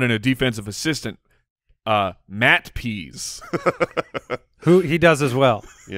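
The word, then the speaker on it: Pees: Defensive coordinator, Dean Pease. Dean Pease. What is he doing? And it is spelled P-E-E-S.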